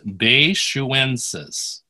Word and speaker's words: baishuensis: All right, how do you pronounce baishuensis? Baishuensis. All right, so that's coming from Beishu, a place called Beishu.